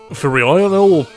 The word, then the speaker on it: Furionel: Furionel, I guess meant to be pronounced like Lionel or something.